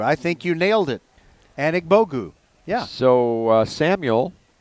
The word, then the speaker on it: Anigbogu: Look at your pronunciation. Well, I got it. It's Anna Bogu. Anigbogu. I think you nailed it. Anigbogu.